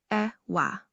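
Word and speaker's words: ẹ̀wà: legumes like beans are known as ewa, pronounced ewa, low high tone.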